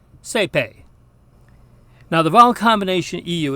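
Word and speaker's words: saepe: Now in Ecclesiastical Latin, the diphthongs AE and OE actually sound very much like each other and very much like the single vowel E, A.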